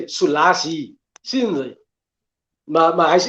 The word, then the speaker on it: Selassie: Hy moet nog gesê dat Lassie. Maar hy het gesê Selassie.